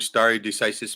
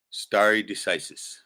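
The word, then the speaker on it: stare decisis: ] is that right spelled s t a r e like stare but pronounced St right n d c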